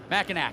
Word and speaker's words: Mackinac: you're from Michigan but you can say Sheboygan Mackinaw maybe you can spell Mackinaw correctly depending on where your location is Mackinac there you go or blah Blanc